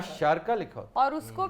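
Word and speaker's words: الشارقة: Sharjah in fact is Sharka. Sharka. Sharka Sharka. Means मशरिक, जिधर से सूरज तुलू होता है। अशारका, इसको लोग अल शारका पढ़ते हैं, अल नहीं है, ये अशारका।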